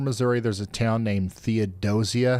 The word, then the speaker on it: Theodosia: Missouri, Theodosia is pronounced Theodosia. Keep it smooth and you'll fit right in. Back to you, Ryan. All right, thank you, Yabot. Theodosia.